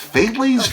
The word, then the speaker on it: Faidley's: I believe it's pronounced Faidley's, but same idea.